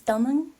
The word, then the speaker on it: Tamang: the Nepali pronunciation is Tamang, but you can definitely say Tamang. That's totally fine.